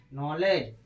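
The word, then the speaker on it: knowledge: नॉलेज।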